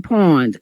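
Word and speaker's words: pwned: So it's called have I been pawned and pawned is spelled P W N E D.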